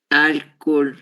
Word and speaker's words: álcool: Esse acento gráfico, ele vai nos indicar que a sílaba tônica desta palavra é a sílaba ao, certo? Então, nós lemos álcool, álcool, álcool. É essa sílaba que deve ser pronunciada com mais intensidade, ok?